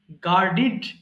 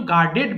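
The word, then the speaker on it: guarded: গার্ড, গার্ডিড, গার্ডিড। তাহলে এটা কিন্তু গার্ডেড বলবো না, উচ্চারণ করব গার্ডিড, গার্ডিড। আবার বলছি, গার্ড, পাহারা দেওয়া।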